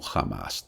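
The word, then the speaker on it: Hamás: atacados por el grupo amás jamás no se escribe con h h a m a s amás lleva tild de la a pero se pronuncia como h a veces se pronuncia como jamás también es ellos son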